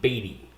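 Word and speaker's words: Beaty: And your last name is spelled B E A T Y. Batty.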